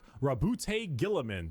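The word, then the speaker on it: Roboute Guilliman: Primark Rabbout Gilaman.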